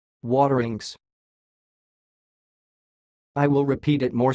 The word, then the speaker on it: Wateringse: the word you see it sounds like water inks waterings I will repeat it more slower watering waterings that's all thanks for